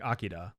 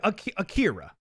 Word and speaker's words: Akira: eight i'm sorry uh akira akira akira that's how we say it here oh it's yeah it's it's like you say an r sound but you don't put your tongue in the same place that you would for